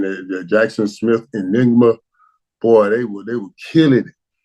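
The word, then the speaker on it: Njigba: Well, I was saying that Jackson Smith Enigma. Boy, they were killing it. I don't know how to pronounce it. Ajigba. Jackson Smith Ajigba. That's how you say it.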